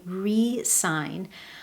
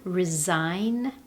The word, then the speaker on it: re-sign: Now, when the stress is placed on the first syllable and I say re-sign, I'm putting my focus on the prefix re, which means again in English.